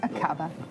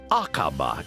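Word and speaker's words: Aqaba: Pilots to fly a brand new EasyJet route a Kaaba is that how you pronounce it yes a cover that's right Iris it's akaba in Jordan five and a half hours flying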